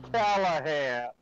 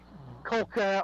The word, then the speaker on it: Callahan: My first name is Callahan. Callahan. And they somehow butcher that into Colca.